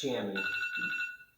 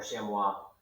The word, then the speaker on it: chamois: This is pronounced chamois. Oops. This is pronounced chamois, by the way, not or chamois. Depends on if you're French or American.